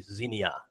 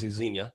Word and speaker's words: Xenia: the mispronouncing things give I see Xenia which is not how it's pronounced I say that all the time it took me like a year to realize it too just sounds better how do you say it I sold some time Xenia and sometimes I say